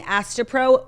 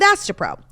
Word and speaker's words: Astepro: Faster Pro meant to rhyme with Astepro?